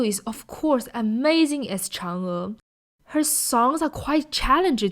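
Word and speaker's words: 嫦娥: is the pronunciation of Chang'e. In the movie, sometimes they tend to emphasize on the Chang and make the sounds a lot weaker, but actually they should be pronounced with equal force.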